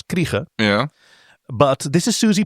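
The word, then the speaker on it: Krige: I don't know if it's Kreese or Krieg in English. I know she's a South African actress, so her name is pronounced Alice Kriege.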